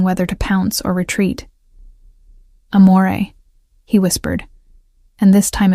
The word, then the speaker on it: amore: Amore, I said softly, demonstrating the proper pronunciation. The R is barely there. It's more of a suggestion than a sound.